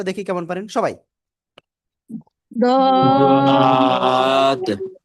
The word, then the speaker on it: ضاد: একেবারে এটা এমন যে আপনার উচ্চারণ অনেকটাই জদের কাছাকাছি উচ্চারণ দিকে যাবে, যেটা আমরা সিম্পল জ উচ্চারণ করি ওইটার কাছাকাছি, মানে একেবারে হবেই না, কিন্তু একটু পার্থক্য থাকবে। আবার কি ডাইরেক্ট দত, এটা উচ্চারণ সঠিক হবে না।